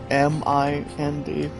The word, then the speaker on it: Mindflayer: The name is pronounced, guys, Mindflayer.